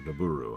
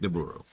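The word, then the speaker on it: Nabooru: Or Naburu, I guess is how you pronounce that.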